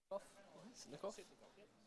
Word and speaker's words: Sitnikov: Sitnikov?